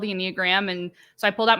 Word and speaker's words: enneagram: get connected to the inag am I saying that right I am saying it right inag right yeah some people say enag some people say inag oh okay yeah um